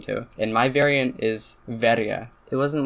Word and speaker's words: verje: Another word with an interesting history, the word in my idiolect, it's verja. Other people pronounce it farge. Some other people pronounce it farje. Some more other people pronounce it varge.